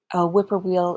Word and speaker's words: whippoorwill: over and over again whippoorwill if you don't know is a type of bird that it gets its name because the sound it makes sounds like the word whippoorwill whip-poor-will whippoorwill it was the